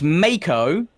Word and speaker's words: Mako: Mako, or the Mako, however you want to pronounce it, which I understand is reviled. It's Mako.